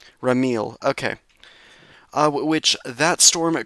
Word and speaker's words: Ramil: Let me just double check that pronunciation. Rile. Ramil.